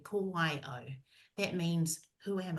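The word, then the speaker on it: ko wai au: It's pronounced this way, ko wai o.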